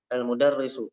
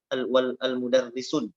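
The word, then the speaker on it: المدرس: itu juru itu Berdiri almudarrisu kita bacaan mudarrisu bukan awal mudarrisun ya tapi alam udara isu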